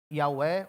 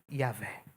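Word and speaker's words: YHWH: A palavra é formada por quatro consoantes aqui. No nosso português, Y, H, W, H. Pronunciamos Iaué ou Iavé.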